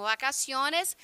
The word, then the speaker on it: vacaciones: Lembra que o V ele tem um som quase puxado para o B, tá? Então, vacaciones, férias.